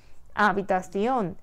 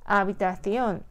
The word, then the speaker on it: habitación: 그런데 자연적으로 사람들이 말하는 방법은 문법 규칙 2번하고는 다른 마지막 음절 오에 강세가 발음이 되는 단어라는 거죠. 그럼 어때요? 문법 규칙이 어긋나니까 틸데를 표시해주고 반음 높여 발음을 해주면 되는 거예요. habitación, habitación. 이 단어를 복수형으로 만들면 역시